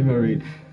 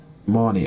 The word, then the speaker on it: Marnie: Hi, Marine. Wait, is it? Marnie. Oh my god, I'm sorry. I've been saying your name wrong the entire time.